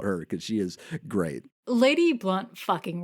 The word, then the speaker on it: Lady Blount: an amazing book what I'm smoking on that lady blown no no no okay you'll love this because it's actually pronounced lady blunt no I I I really because I deliberately